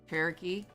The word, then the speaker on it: Cherokee: How do you pronounce Cherokee? Cherokee.